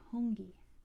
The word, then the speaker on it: hongi: not sure we talked about that room the hongi spelled like this hungi it's a greeting where you